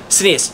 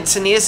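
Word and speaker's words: Caeneus: Senius straight up kills the centaur.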